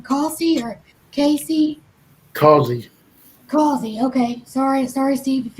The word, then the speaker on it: Causey: I don't know how to pronounce his last name. Causey or Casey? Causey.